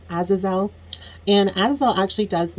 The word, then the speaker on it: Azazel: deal with the demon I think his name is azizel I'm not quite sure the pronunciation but I believe it's Azazel and as well actually